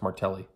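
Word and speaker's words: Martelle: It's spelled differently, but my last name is pronounced Martelli, but it ends in an E.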